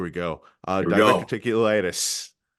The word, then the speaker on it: diverticulitis: Wow, without because there's also there's no timetable for his comeback with diverticulitis. That's how you pronounce it.